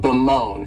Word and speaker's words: bemoan: The next verb is to bemoan, and this verb has 2 syllables, and the stress is on that second syllable, moan, bemoan.